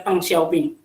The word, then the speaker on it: Deng Xiaoping: Nah, muncullah Deng Xiaoping atau Deng Xiaoping kalau tulisan ininya, itu bacanya Deng Xiaoping.